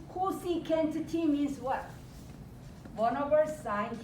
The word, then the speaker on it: cosecant: more uh cat cosecant you have to know how to pronounce Cosi can't means what one over